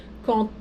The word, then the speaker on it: quand: Eu sei que é bizarro, mas o quand, na hora de fazer a liaison, o D se pronuncia como se fosse um T.